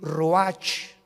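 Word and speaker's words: רוּחַ: mismo capítulo y exhaló Isaac el Roach así como suena se pronuncia la ciah en hebreo como jota se les halló y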